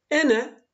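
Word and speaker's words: أنا: Ene, ben. Öyle elifle yazılıyor ama ene diye okunuyor.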